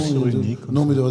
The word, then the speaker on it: Cyrulnik: Non, ça se Cyrulski, prononce Cyrulnik.